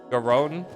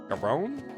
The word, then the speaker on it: Gallon: Oh, it's the double L is like an R. Garon. Garon.